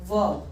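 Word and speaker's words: verb: Raw sound doesn't turn, it इज वर्ब, वर्ब।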